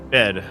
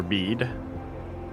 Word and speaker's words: bead: Bed. White bed. The white boy. Do you have a white bed, Uncle? Or bead?